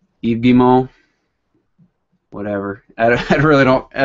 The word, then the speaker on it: Guillemot: think so um Eve gimo oh that's his name yeah all right the pronunciation of uh the CEO is eimo whatever I I really